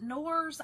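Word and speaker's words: Knorr: But you take the, what is it, Nors? I don't know how, it's K-N-O-R-S. I feel like it's Nors. I feel like K is silent.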